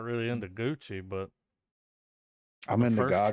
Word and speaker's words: Gucci: it is yeah this is house of gucci gucci i heard that's how you're supposed to pronounce to yeah gucci this has uh what's